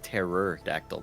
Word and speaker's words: pterodactyl: like that a lot pterodactyl but you spell it like without the p and it's terror dactyl thing who's doing that